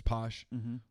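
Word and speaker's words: Pache: It's Posh, or Drew Waters, and then either Bryce Wilson or Kyle Wright.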